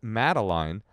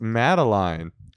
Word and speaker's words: Madeline: Yeah, it rhymes with gin and not wine.